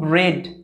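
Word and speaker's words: bread: যেমন একটা শব্দ লিখছে দেখো, বি আর ই এ ডি, এই শব্দটার উচ্চারণ হয় কিন্তু ব্রেড, এখানে ই এর সাউন্ড হচ্ছে এ এর মতো, ঠিক আছে?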